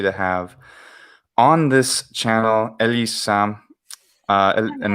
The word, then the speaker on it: Elissa: There's a difference between the way I say my name in English and the way I say my name in Italian. Because Ovviamente. the vowels change. Mm, And dici. yes, and I put the double S in the Italian version.